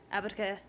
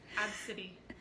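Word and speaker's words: Abcde: How would you pronounce that? Abadka. It's Ab-City.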